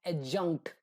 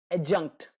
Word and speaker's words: adjunct: it is pronounced as adjunct without the letter d so the sound of the letter d is not there adjunct it jumped all right